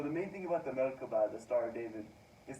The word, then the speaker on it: Merkabah: So what I'm going to be presenting today is a Merkabah. That's how you say it in Hebrew.